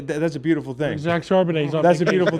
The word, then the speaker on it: Charbonnet: Charbonnet. Charbonnet. When's he back? Zach Charbonnet.